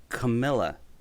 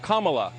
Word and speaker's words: Kamala: fellow hosts on fox her name is pronounced comma like the punctuation mark look kamala okay seriously i've heard every sort of one so what that so okay coming back to kamala let's see so we